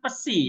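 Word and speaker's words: ψ: Oke, itu namanya pesi ya. Apa? Iya.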